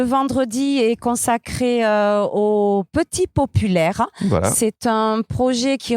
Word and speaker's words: Popul'Eyre: Popul Air. Popul Air. Voilà, parce que c'est en 2 mots.